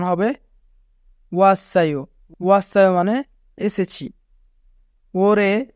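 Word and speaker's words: 올해: তারপরে হিউত আছে তাই রিউল বাচ্চিমটি হিউতের স্থানে যাবে এবং উচ্চারণ হবে ওরে ওরে মানে এই বছর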